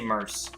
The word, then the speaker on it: merc: know m-e-r-c i say mers the reason is pretty simple mercenary when you pronounce the full name of mercenary you don't say mercanary you don't say mercury